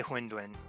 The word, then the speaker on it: Hundun: I would say Hundun. How do you pronounce the eye that you get out of the gold chest at the beginning?